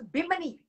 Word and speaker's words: Bimini: Am I pronouncing that correct? It's Bimini.